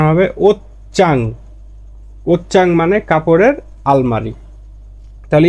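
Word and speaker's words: 옷장: এর আসল উচ্চারণটা হবে ওতচাং।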